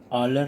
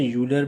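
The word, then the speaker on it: Euler: Mister ऑलर ने दिया था। ठीक है, या मिस्टर यूलर भी कुछ प्रोनाउंसिएट करते हैं इसको।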